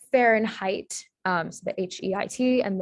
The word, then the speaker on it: Fahrenheit: nervous um and then for the i sound being spelled as ei uh fahrenheit um so the h-e-i-t